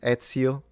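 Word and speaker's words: Ezio: It's just e z i o in Italian. Etsio auditori if you want to say it the Italian way.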